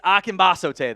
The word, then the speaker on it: Akinbasote: It is Akinbasote, though. Is how you pronounce it.